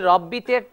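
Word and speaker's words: رَبِّ: ওখানে ভুল করে ওই রব্বিতে লম্বা করে টান দেয় মনে রাখতে হবে রব্বিতে কোন টান হবে না উচ্চারণটা হচ্ছে রব্বি আর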